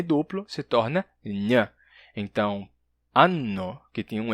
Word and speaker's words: anno: E para a palavra anno, a pronúncia é anno em italiano. Anno, com N duplo.